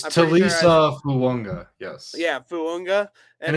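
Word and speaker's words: Fuaga: You say all of the syllables, and then an A and a G makes an N sound.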